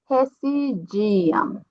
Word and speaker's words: residiam: Então, a R, a pronúncia vai ser como uma J, lembrem, tá? Residiam, tá?